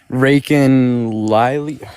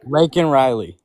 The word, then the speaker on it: Laken Riley: And the how do you pronounce her name? I'm going to I'm going to butcher her name. Raiken Lily.